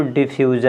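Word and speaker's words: diffusion: अब देखेंगे यहाँ पे कि इसको डिफ्यूजन, इसको ज क्यों पढ़ा जा रहा है यहाँ पे? SIO को ज का उच्चारण क्यों करते हैं, इसको ज क्यों पढ़ते हैं बताइए?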